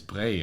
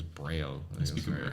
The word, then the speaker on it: Braille: Also, guys, it's Bray, I think. I don't think it's Braille pronunciation. Yeah, you say Braille in Irish. No, it would be like Louis B in French, right?